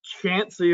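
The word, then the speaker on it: Chauncey: village called, be careful how you pronounce this, Chansey. This is pronounced Chansey, Ohio.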